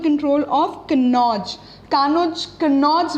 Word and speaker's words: कन्नौज: कन्नौज वैसे राइट इसका प्रोनाउंसिएशन होता है।